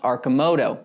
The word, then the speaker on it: Arcimoto: that video i now know that it is pronounced archimoto and it's not surprising that i misspelled their